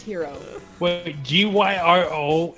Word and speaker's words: gyro: gyro in my mouth you know what that's pronounced hero right not white it's it's hero well gee why are all is here oh